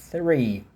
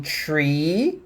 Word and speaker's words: three: Three. Tem tree, que é árvore, e tem three, que é 3. Tree, árvore, three, 3. Beleza?